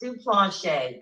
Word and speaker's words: Duplantier: I said it's pronounced Duplantier. Duplantier. Ooh, that is unique. I like that. It's French. Oh, it's French.